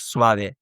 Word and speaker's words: suave: Where in English like certain words will end with E, and the E won't be pronounced, right? Whereas in Spanish, it will always be pronounced, right? So, suave in Spanish suave, right? You can see the A is pronounced, for example.